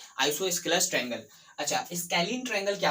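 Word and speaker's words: isosceles: तो बेसिकली यहाँ पर क्या, आइसोसेलस भी कभी कभी इसको प्रोनाउंसिएशन किसी कोई टीचर करते हैं, लेकिन मैं आप लोगों को बता दूं कि इसको आइसोस्केलस पढ़िएगा तो चल जाएगा।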